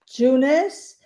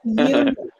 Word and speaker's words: Younes: In the States, he is known as Junes, but his name is Younes. This is how Yes. you pronounce his name. His name is Younes. And in Yes. Morocco, you can write it Yuens or Younes, and Right. it's Younes.